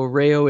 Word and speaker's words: Reijo: social media yeah it's Rayo music so rayou is is a finished name so it's spelt a little bit different REI Jo so rails the J is silent so rail music Instagram